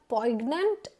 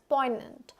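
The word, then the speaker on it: poignant: इट्स an adjective next पोइनेंट इट्स नॉट पोइग्नेंट it's pronounced as पोइनेंट एंड इट इज़ एन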